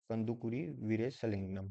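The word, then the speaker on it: Kandukuri Veeresalingam: इनका नाम है कंदुकुरी वीरेशलिंगम। स्पेलिंग नोट कर लीजिए, कंदुकुरी वीरेशलिंगम।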